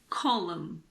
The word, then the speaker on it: column: this is very simple we don't pronounce n if it comes after M at the end of a word for example Autumn it's not autum it's just Autumn column condemn damn him what about the